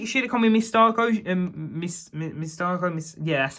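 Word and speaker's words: Misako: Really, it should have come with Miss Starco. Yeah, that's how you pronounce her name.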